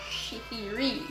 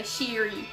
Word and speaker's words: Shihiri: And a lot of people ask me, how do you actually pronounce Shihiri's name? I'm like, it's Shihiri. But a lot of people don't ever pronounce it right and say Shiri, which she answers to anything that kind of coincides with that.